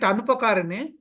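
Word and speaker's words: अनुपकारिणे: We have to read it Anupakarine. Yes, But it in is class, they are Anupakarane. telling Upakarine, they are pronouncing as Upakarine.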